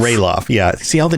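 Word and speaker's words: Ralof: also it looks like i'm always used to just roloff but it looks like uh chad's saying that it's pronounced ray lost rayloff yeah see all the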